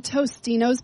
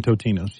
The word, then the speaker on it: Totino's: that way do you and then Totino's pizza is now to no it's always been totinos you can't that one I will not buy it was always totinos people said it wrong I remember do you